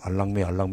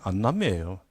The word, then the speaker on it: 안남미: 우리는 이제 안남이라고 그러고 그것도 발음 잘못해가지고 6.25 전쟁 후에 미국이 보낸 동남아 쌀을 알랑미 그랬는데 그게 안남미예요.